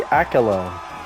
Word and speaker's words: Akylone: Akalone.